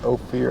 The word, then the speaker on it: Ophir: this is ophir pass this is the town of ophir not ophir oh fear I think I'm saying it right oh fear o-p-h-i-r 1881.